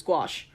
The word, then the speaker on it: gouache: regularly kicks my ass yeah it's pronounced gou apparently or gouache how I forget it immediately it was gouache and now is the time